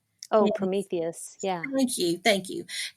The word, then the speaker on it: Prometheus: Um, I did also upload it to, and I don't know that I know how to pronounce this right, but Prometheus. Oh, Prometheus.